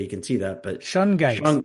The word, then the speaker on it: Shungite: know how clearly you can see that, but Shungite. Shungite. I Yes, which pronounced it is, right.